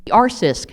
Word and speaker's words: R-CISC: that's my call so our sisk that's how you pronounce it I'm sorry I didn't